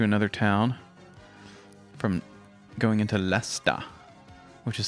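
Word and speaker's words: Leicester: going over to another town from going into lester which is spelled differently it's spelled l like it's pronounced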